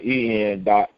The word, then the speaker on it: Enshar: His name is spelled EN.SHAR. It's spelled just like UnCONPromeyezed, but it's Enshar with an E.